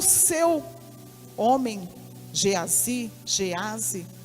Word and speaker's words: Geazi: mandou o seu homem geazy geazy eu gosto de pronunciar Geazi né e embora não tenho acento agudo lanue mas eu gosto